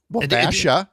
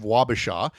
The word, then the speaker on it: Wabasha: uh Washa instead of Wabasha.